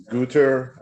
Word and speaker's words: Guter: It's pronounced Guter. I've heard every pronunciation.